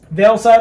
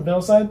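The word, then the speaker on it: VeilSide: Vail Side, I think is what it was. Vail Side? Vail? I think it's Vail. Vail Side. V-E-I-L-S-I-D. I know how to spell it.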